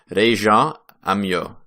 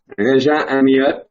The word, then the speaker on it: Rejean Amyot: His name is Rejean Amyot, or let's get this French pronunciation correct. Rejean Amyot. Is that right? Rejean Amyot. That's close enough.